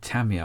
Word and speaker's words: Tamiya: know who you know who Tamiya or Tamiya, how it's supposed to be pronounced, Tamiya, you know who they